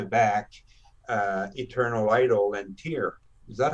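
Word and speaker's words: Tyr: loud back to back uh eternal idol and tear is that how you pronounce it yeah yeah and i blasted them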